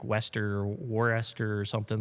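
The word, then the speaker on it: Worcester: I pronounce it like common core Warchester but apparently it's Wester Wester Massachusetts.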